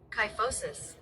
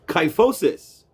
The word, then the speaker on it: kyphosis: Interesting pronunciation. Kyphosis. Kyphosis.